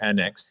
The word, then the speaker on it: Air NXT: founder of Air Next, Air Next without an E. Sorry, Air NXT, but Air Next is pronounced.